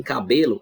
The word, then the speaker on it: cabelo: café é oxítona ou em cabelo é a penúltima sílaba mais forte tão penúltima ela é paroxítona café como é a